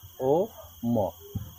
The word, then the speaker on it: ওম: ঔ ম এ কিন্তু শব্দটা উচ্চারণ হয় শুরু থেকে অনেকেই বুঝেন না যে কি বলবেন ওম না আম কোনটা কমু এরকম না বিষয়টা বুঝতেই পারেন না অনেকে সেটা এজন্য বলে দিলাম উচ্চারণটা আ ও ম কি হইল ওম শোনরে মা কালী দেবী